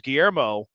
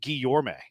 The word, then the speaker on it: Guillorme: Like, he only plays second, whereas Guillermo, it's actually pronounced Guillorme.